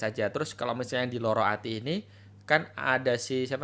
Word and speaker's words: Lara Ati: Tadi lu bahas tentang Lara Ati, Loro Ati ya, bacanya Loro Loro Ati.